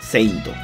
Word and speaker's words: Saint: Además, adicionó la pronunciación Saint, ya que Seitoshi recuerda cómo los japoneses la pronuncian, o sea, Seinto. Y sí, si ustedes miran el logo del manga de Saint Seiya, está escrito Saint en nuestro alfabeto, indicando que es así como debe pronunciarse. Es por eso que decir